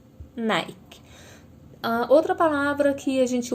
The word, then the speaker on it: Nike: Por exemplo, a palavra Nike, que é a marca do tênis. Se a gente for olhar, ele se escreve Nick, mas a gente já acostumou a falar Nike.